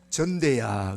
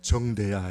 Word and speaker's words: 정대: 우리 아버지는요, 정대라는 이름을 발음을 못했어요. 전대야 그랬어요. 내가 맨날 돈 주면 이러보신가 봐. 전대야, 전대야. 어릴 때 아버지한테 그 말은 못했고, 아버지는 왜 이름을 똑바로 안 부르지? 전대야가 뭐예요? 정대야 이러지. 정대야.